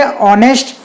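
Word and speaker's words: honest: अब देखिए यहाँ पर जो ऑनेस्ट है इसमें एच है, एच क्या है, कॉन्सोनेंट व्यंजन, लेकिन जब हम इसका प्रोनाउंसिएशन उच्चारण करेंगे तो यहाँ पर हम पढ़ेंगे ऑनेस्ट। यहाँ पर आ वॉवेल की ध्वनि आ रही है, इसलिए यहाँ पर भी एन का प्रयोग करेंगे।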